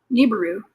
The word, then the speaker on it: Nibiru: Nibberu is how you pronounce that too.